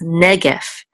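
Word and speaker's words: נגף: second syllable, and this the accent mark says is on the first syllable, so it's negef, negef, and negef is plague, a plague.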